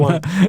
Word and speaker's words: Ewan: I was like, Ewan? Ewan? And it's you won, basically. It's basically you won. Yuan.